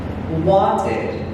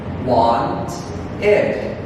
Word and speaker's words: wanted: The last way of pronouncing ED is the sound id. Id. Okay? The example is the verb wanted. Want id. Wanted. Okay?